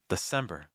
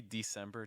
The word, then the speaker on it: December: to keep everything low December December you can say December too but very often that first syllable is reduced to da December if you've learned